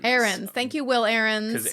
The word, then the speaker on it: Aarons: His last name is pronounced Aarons. Aarons.